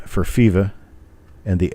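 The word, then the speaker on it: Fivaz: names were bill feva spelled f i v a z but pronounced fifa and j t stanton and the f for fifa and the s for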